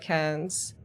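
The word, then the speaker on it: cairns: It's like a city in Australia. In Australia, it sounds like cans. Cans?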